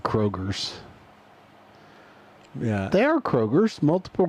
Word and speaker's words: Kroger: Oh, Kroger's with a not Kroger's. You should say Kroger, not Kroger's. H.